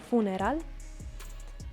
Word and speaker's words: funeral: matrimonio funeral El funeral remember the difference in pronunciation in English is funeral in Spanish is funeral the birthday remember it